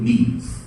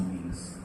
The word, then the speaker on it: memes: to the other through memes. It's spelled as M-E-M-E and it rhymes like gene, but this is how ideas are copied from one to the other.